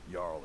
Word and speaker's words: Jarl: Jarl is who you want to talk to. No. Always coined to be made. I don't talk to anybody whose J is pronounced like a Y.